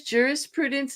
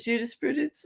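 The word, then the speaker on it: jurisprudence: Jurus Prudence instead of Judas Prudence.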